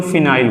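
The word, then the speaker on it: phenyl: जो प्रीफिक्स होता है इसे हम लोग फिनाइल बोलते हैं फिनोल नहीं फिनाइल या फनी बोल दीजिए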